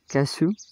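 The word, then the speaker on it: cashew: कैशू, कैशू, क्रू, श्रू, चू। SH CH R के बाद, जैसे CASH, इसके बाद में EW आया तो उच्चारण हो गया ऊ, कैशू।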